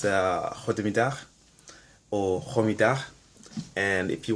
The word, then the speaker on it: goedemiddag: And basically that sound is how they say G. That's how they pronounce the G in Dutch. I don't know why, but G sounds like in Dutch.